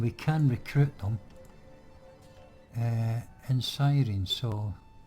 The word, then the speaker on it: Cyrene: can recruit them in Cyrene, so or Kyrene rather. I think that's what's pronounced the C as a K, I think.